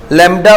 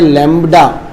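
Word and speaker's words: lambda: देखो इंग्लिश में प्रोनाउंसिएशन भी पता, लैम्बडा, बी आता है इसमें, हालांकि हम बोलचाल की भाषा में थोड़ा थोड़ा थोड़ा आगे आके लैम्बडा लैम्बडा बोल देते हैं, पर ध्यान होना चाहिए कि हाँ भाई बी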